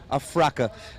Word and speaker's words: Afraa: viewership a fra by afraa is almost like AF Africa but it's afraa congratulations to you and